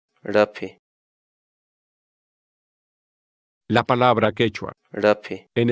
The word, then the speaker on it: raphi: de videos en la que te enseñamos a pronunciar algunas palabras en quechua. Así que nuestra palabra del día por hoy es... Rapi. Rapi. Rapi.